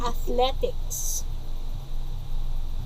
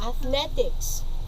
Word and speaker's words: athletics: we heard a while ago the way we pronounce it as i have mentioned to you it's athletics say it again come on say it again athletics read the words as yes that's it so